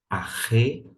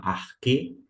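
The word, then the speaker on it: ἀρχῇ: O segundo vocábulo, arre, algumas pessoas vão pronunciar como arque, mas fique muito bem à vontade. Eu pronuncio de acordo com a pronúncia erasmiana, com uma ligeira adaptação.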